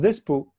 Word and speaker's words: Despo: Donc, on est avec Pascal Despo, comment ça se prononce? Ça se prononce Despo.